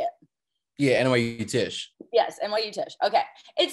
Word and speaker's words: Tisch: Yeah, NYU Tisch. Yes, NYU Tisch. Okay. It sounds like it make the pronunciation, I'm like, it can't be that easy to say.